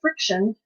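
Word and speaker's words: FriXion: of the friction pins a lot of people mispronounce it the actual company came visit came to visit and they said it's friction because when you draw you can erase using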